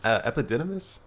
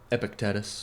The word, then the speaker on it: Epictetus: Epidmus. Epictetus. Epictetus. I might be mispronouncing it, but I always up the Greek names.